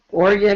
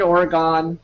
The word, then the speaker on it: Oregon: at least I say Oregon right Oregon Oregon you know now is it do you actually pronounce it with all three syllables or do you just shorten it to twoam no Oregon is